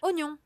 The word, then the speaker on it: oignon: Oignon.